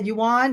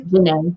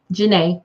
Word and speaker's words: Janae: And is that Juwan? Is that right? Did I pronounce that correctly? Janae. Juwan? Janae. Oh, Janae. Oh, it's Janae. It's okay. It looks different, but Janae, I love that name, Janae.